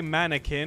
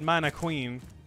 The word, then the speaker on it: mannequin: stuff really weird so he didn't say mannequin he said man a queen 17 don't you remember